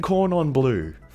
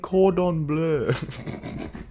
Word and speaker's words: cordon bleu: Chicken corn on blue. Corn on blue? Really? Were you actually in French immersion? It's called chicken cordon bleu.